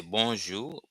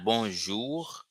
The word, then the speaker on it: bonjou: So when you're greeting someone, greeting expression, introducing yourself in Haitian Creole, formal ways you can say bonjour, bonjour. This is the pronunciation, not bonjour, which is French, but bonjour, bonjour, bonjour, bonjour, bonjour.